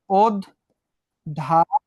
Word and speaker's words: অধ্যাপক: তাহলে ওটা কি হয়ে যাবে? ও হয়ে যাবে। কেন হয়ে যাবে? শেষে একটা জফলা আছে। তাহলে অধ্যাপক।